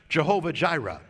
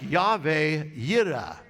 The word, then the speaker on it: Jehovah Jireh: probably heard the expression jehovah jireh right well of course that's not really how you pronounce it it is more like yahweh yiddah now where does it